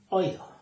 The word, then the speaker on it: oído: El oído. Que va con acento en la I, porque son 3 sílabas. Oído.